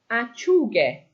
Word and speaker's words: acciughe: We want a hard G sound. And in Italian, in order to keep that hard G sound, we add an H to the word. So acciuga becomes acciughe.